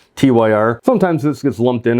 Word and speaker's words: Tyr: number 14 on my ranking going back to the Tony Martin era uh this is a tear Tire I've always pronounced a tear tyr sometimes this gets lumped